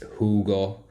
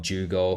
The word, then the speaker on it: jugo: Spanish most countries anyway the J is a h and the H is